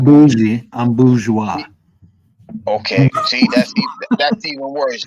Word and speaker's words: bourgeois: When you speak French, it's bourgeois. It's not bougie.